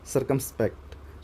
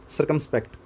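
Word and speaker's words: circumspect: ठीक है, सर्कमस्पेक्ट। सो आप इसको याद कैसे कर सकते हो कि सर की रिस्पेक्ट से याद कर सकते हो। इस CIR को आप SIR प्रोनाउंस कर सकते हो, सर की रिस्पेक्ट।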